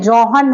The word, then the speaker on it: Johann: लीजिए Gregor जॉन Mendel जॉन में जी जे ओ एच एन वाला जॉन नहीं है जोहन है जोहन मेंडेल ठीक है वाज द